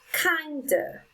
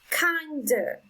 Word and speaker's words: kinder: first syllable number four kinder kinder so the strongest sound is on the first syllable number five described described